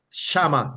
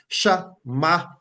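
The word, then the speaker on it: שמע: say, or we hear Shama, like we'd say Jehovah Shammah, right? But the proper pronunciation is Shamach. There's a little kind of K sound at the end.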